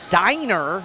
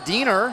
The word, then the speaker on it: Diner: correction on the pronunciation it is no.1 arielle diner not döner and we have that